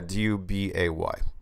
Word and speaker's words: Dubay: And I was reading a Guardian article, and it was talking about Eric Dubay. Is that how you pronounce his name? Yeah, Dubay.